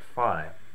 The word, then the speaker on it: phi: math mathematical number Pi we look at that I like we don't call that P we call that Pi so to me that's region enough to go with this pronunciation for now so for the duration of the video I'm just going to call it fi now fi has happens